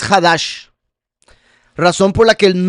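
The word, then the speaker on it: חדש: En hebreo, la palabra para mes se pronuncia jodes, mientras que nuevo es hadash, razón por la que el nuevo pacto es llamado el habrid a hadasá.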